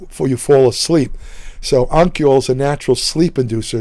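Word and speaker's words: Honokiol: It's spelled Honkiel, I believe. The H is silent. So it's pronounced Onkiol.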